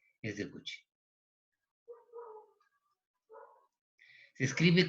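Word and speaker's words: Cauchy: la n es de coche escribe caucci así como lo suponiendo aquí se pronuncia coche pero eso me dijeron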